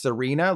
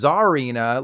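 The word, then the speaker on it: Tsareena: bound sweet isn't pronounced Serena like Blake Lively's character in Gossip Girl instead it's pronounced Zarina like Czar which is a type of royalty and when you manage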